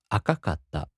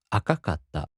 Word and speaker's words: 赤かった: For example, 赤い turns into 赤かった, so the accent falls on か. 赤かった.